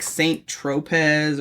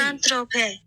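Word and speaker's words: Saint-Tropez: You're not even pronouncing the Z. Saint Tropez. Oh, okay. So the Z's apparently silent suddenly.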